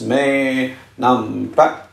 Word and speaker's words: Maynumpetch: my favorite YouTuber from Thailand, famously known as Maynumpetch. That's how she taught me how to pronounce her name.